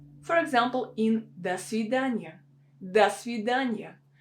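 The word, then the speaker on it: до свидания: example in the sudanya das vidanya we don't say dos vidanya dos vidanya it will sound really unnatural we have this preposition do that should be pronounced as da because it's not stressed that's widanya dania okay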